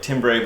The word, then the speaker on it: timbre: It looks like timbre, but it's pronounced timbre.